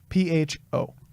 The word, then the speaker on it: pho: Spell it? PHO. But it's pronounced pho.